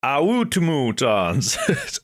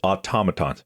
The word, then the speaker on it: automatons: Some go like automatons, automutons. It's automatons.